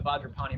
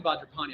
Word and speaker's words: Vajrapani: So if I was doing Vajrapani, I'll do it 3 times. You're saying the words. And personally, I put the word Vajra and Benza together, and then Pani is its own thing.